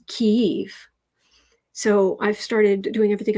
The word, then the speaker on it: Kyiv: I did hear that the Russians pronounce the name of that city as Kiev, but the Ukrainians pronounce it as Kyiv.